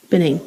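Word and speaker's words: Bennane: Benane.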